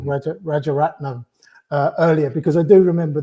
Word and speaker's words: Rajaratnam: There's a couple of different things that kind of, I googled Rajanat, and I'll get his name wrong, Rajaratnam, earlier, because I do remember the story from when it broke.